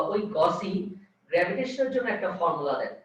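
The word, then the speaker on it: Gauss: এটাকে বলা হয় গস ল বা গসের সূত্র, বা অনেকে বলে গাউসের সূত্র, উচ্চারণটা এরকম। এটাকে বলা হয় গসেস ল ফর গ্র্যাভিটেশন, অর্থাৎ মহাকর্ষের জন্য গাউসের সূত্র।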